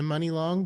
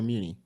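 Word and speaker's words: Muni Long: money long because is how you say your name money or Muny I thought it was money think I thought it was money money it's money long oh it's that's on purpose money okay that's not her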